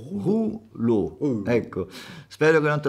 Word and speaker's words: rouleau: Non è roleux, è rouleau, rouleau.